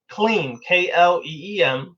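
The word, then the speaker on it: क्लीं: of the bija sounds, which is clean, Kleem, transliterated from Sanskrit. It's not really spelled like that, but you just keep affirming that over and over 10,000 times.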